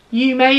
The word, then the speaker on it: yume: is the yume sweater i looked up how to say this you may it's a japanese word